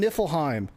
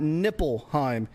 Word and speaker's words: Niflheim: We reestablished the bridge to Midgard and earn the triilingual trophy for learning the languages of Muslim in Niflheim. No, not Nippleheim.